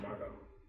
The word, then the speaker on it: Margot: You gonna pronounce the T? I don't think so.